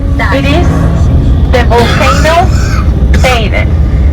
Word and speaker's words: Teide: It is the volcano Teide. You say Teide, I think. T-E-I-D-E. P-E-I-D-E. That's how we spell it.